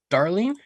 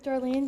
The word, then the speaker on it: Darlene: mispronouncing your name, Darling. are you there? Yes, I'm here. Can you hear me? We can hear you. Yes, and it's Ruth Darlene. That's Darlene.